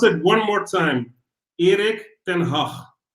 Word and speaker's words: Erik ten Hag: Let me pronounce it one more time. Erik ten Hag. Erik ten Hag.